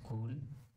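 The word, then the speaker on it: CeWL: new nice cool but the spelling of this tool is t-e-w-l we pronunciate it as cool let's search for a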